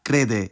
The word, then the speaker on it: crede: suna, zbura, proteja, părea, crede, ieși, vorbi, coborî, and ure. But first, notice how, of all these infinitive verbs, only the e verb, crede, isn't stressed on the last syllable.